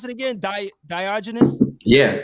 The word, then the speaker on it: Diogenes: And, when I look at the name, how you pronounce it again? Diogenes? Yeah, Diogenes.